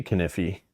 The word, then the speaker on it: Kniffy: You pronounce the K in Kniffy? I don't see why that's weird. That's how you say Kniffy.